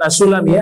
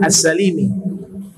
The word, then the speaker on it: As-Salimi: Menurut Imam Atha As-Sulami atau As-Salimi ini, bukan As-Sulami ya, As-Salimi.